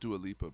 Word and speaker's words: Dua Lipa: I think it's pronounced Dua Lipa, bro.